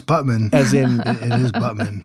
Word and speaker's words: Butman: going to ask you guys how you would pronounce this b u t m a n how butan if it was butan it would